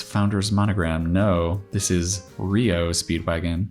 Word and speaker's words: REO: monogram no this is rio speedwagon when you're talking about the actual automaker it's pronounced rio if it's the band it's reo yeah we learned that